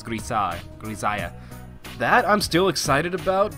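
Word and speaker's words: Grisaia: of episode 2 that it's pronounced like Messiah, so Grisaya. I'm assuming Grisaya because I think the Japanese writing for it had a za instead of a sa, so I think it's Grisaya.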